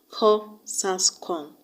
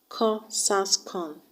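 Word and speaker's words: QQOSASCON: So the mnemonic I've come up with is pronounced as Ko-Sas-Kon. Ko-Sas-Kon. Q-Q-O-S-A-S-C-O-N. Q-Q-O-S-A-S-C-O-N.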